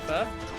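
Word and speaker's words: phở: Everyone says pho, and I know it's not pho. It's like you pronounce it like how you pronounce F-E-R-R, but I just don't know whether I'm pronouncing that right.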